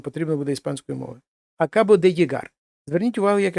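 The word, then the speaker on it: llegar: Акабоде єгар. Зверніть увагу, як я вимовляю. Акабоде єгар. Оце от подвійне л, як є наше єр або йод.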